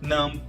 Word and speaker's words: numb: Geralmente, as palavras que terminam com B, esse B não é pronunciado, tá? Como no caso de numb, que é entorpecido, come, pente, dumb, bobo, lamb, cordeiro.